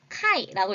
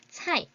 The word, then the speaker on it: 菜: 好, 菜, 菜, 菜 라는 이 단어를 카이라고 읽으시면 절대 안 돼요. C는 츠 발음입니다. 차이.